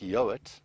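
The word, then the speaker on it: Yeowart: quite an interesting surname which is pronounced yo but it's spelled ye EO w a r t and as far as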